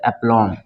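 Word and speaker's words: aplomb: यह सही है ठीक है यहां पे 20 साइलेंट हो जाएगा ठीक है उसी तरह ये है applom बी नहीं पढ़ा जाएगा तो aplom ठीक है ना ये है आपका बम भी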